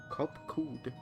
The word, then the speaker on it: Kopkud: As for nomenclature to address my individual person, I believe it would be pronounced Kopkud.